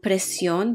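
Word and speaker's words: presión: a big one right tienes precion the inflection is on the o t do you have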